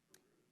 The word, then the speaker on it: Carew: It's Carew, to pronounce it correctly, Carew.